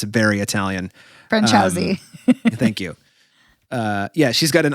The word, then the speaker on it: Franciosi: I can't pronounce her last name. It's very Italian. Franciosi.